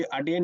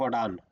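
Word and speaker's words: Aden: के और gulf of अडेन के बीच में है, या देखो अभी अडेन इंग्लिश में लिखा रहता है, हम इसको अडान भी बोलते हैं, गल्फ ऑफ अडान, है ना?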